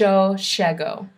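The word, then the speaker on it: llego: distinct is that uh the y or the Double L it's normally in Spain or in Mexico is pronounced y but here it's pronounced sha so if you want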